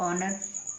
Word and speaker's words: honor: ऐसे होते हैं जिनमें एच साइलेंट रहता है, छुपा हुआ रहता है। तो HOUR हावर, HONOR ऑनर, है ना। एच को ए पढ़ रहे हैं, HONEST, तो क्या बन गया, एच को क्या पढ़ेंगे, ऑनेस्ट, क्या पढ़ेंगे, ऑनेस्ट।